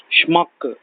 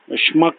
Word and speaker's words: Schmuck: Schmuck. Schmuck, S-E-H-M-U-C-K or S-H-M-U-C-K.